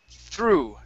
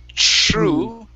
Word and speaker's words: through: You're saying true. True, and your tongue is not coming between your teeth. You're saying shh, shh, like that. And your tongue is pointed down below your teeth. It's through. Through.